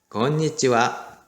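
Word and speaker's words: こんにちは: 근데 여기 보시면 건니찌와 자, 여기는 하가 아니라 와라고 발음이 되었죠.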